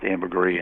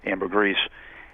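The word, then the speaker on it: ambergris: stuff called amberr and I've heard it pronounced Amber gree in Amber grease and eventually that finds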